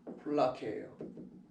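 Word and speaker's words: φυλακή: 플라케예요. 플라케라는 발음입니다.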